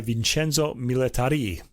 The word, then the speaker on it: Vincenzo Milletarì: Marco Medved is the chorus master, and the Orchestra I Pomeriggi Musicali di Milano, conducted by Vincenzo Milletarì. It's got an accent on the I.